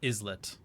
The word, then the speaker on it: islet: In fact, once green is on this board, we all share an isllet because that's how that word is pronounced.